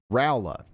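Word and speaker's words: Rolla: I said roller the first time. I remember the correction, but I remembered the correction incorrectly.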